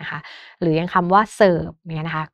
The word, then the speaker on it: เสิร์ฟ: ระหว่าง คำ นะ คะ หรือ ยัง คำ ว่า เสิร์ฟ เงี้ย นะ คะ ก็ ตัว การัน คือ ตัว